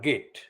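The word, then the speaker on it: Christopher Geidt: likes of christopher git i pronounce his name as git g e idt sue gray christopher gate and many other advisors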